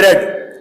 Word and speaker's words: read: If she had read, read की second form, third form को रेड बोलते हैं, स्पेलिंग वही होते हैं RED, लेकिन बोलने में रेड।